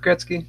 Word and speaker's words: Gretzky: how do you say it right ski yeah Gretsky Gretsky I said it right and then this